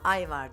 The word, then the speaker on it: Ajvar: Ajvar diye yazılıyor ama ayvar diye okunuyor.